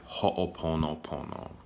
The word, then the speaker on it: ho'oponopono: islands it's called um so that's how it said ho'oponopono um it's spelled h-o with an apostrophe o p-o-n-o-p-o in a ho pono pono and the oponopono is